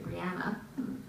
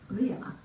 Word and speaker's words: Brianna: did you pronounce well most americans would say brianna and uh jamie pronounces it in the scottish way brianna and already there how